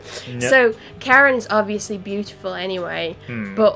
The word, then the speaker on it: Charon: So, Charon is obviously beautiful anyway, but also the fact that Zagreus and some other characters pronounce his name the same as Chiron is just so funny.